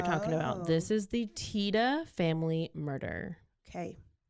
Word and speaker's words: Tiede: TAA I was trying it's spelled in a certain way so I didn't know if it was teed or Tida but it's Tida okay T what is